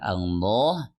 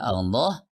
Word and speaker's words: Allah: Kemudian huruf lam itu dibaca tebal kecuali jika diawali atau kata Allah didahului oleh kata yang berharokat kasroh atau tanwin.